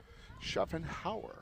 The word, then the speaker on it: Schaffenhauer: We did have a correction on the name pronunciation. It's Schaffenhauer. Hauer. Somehow I got an S in there, Jerry.